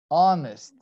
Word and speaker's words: honest: letter age the age is silent it's not pronouncing like honor like our err honest man you see all these words in spite